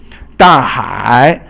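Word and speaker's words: 大海: 大海 means fourth tone and then third tone, and 海 is the ocean, but 大 means big, so 大海 is the big ocean.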